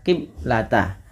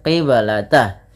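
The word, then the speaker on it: القبلة: Kesalahan yang terjadi di dalam membaca bacaan qalqalah yaitu tidak memantulkan bunyi suara bnya. Maka dia biasanya dibaca qiblata. Wama ja'alnal qiblata. Harusnya dipantulkan qiblata.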